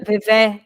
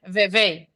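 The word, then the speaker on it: Vevey: se aparece o lago se escreve vuu é V vu não é vevé é vevei la cleman ah é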